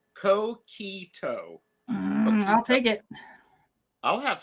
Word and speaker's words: coquito: Pronounced coquito.